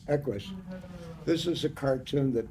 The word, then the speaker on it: Equus: Equus. Equus.